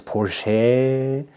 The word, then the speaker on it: Porsche: And for the Carrera modern GT, I'm driving my Porsche Porsche and RSR and it is Porsche. Not like the Aussies mispronounced it, but I saw that Bo was